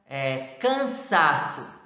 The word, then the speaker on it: cansaço: Sílaba tônica, penúltima, na palavra cansaço, as demais sílabas são átonas. Então, esse sa é a sílaba tônica e as demais átonas.